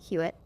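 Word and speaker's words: Hewitt: Well, why this came up is because I explained to Joe that how I tell people how to say my name is how are you should rhyme.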